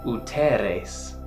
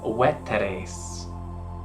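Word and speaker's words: veteres: Danzig's pronunciation apart, but the spelling of the U where a V should be is probably the reason for his mispronunciation of uteres, when in fact the word is weteres.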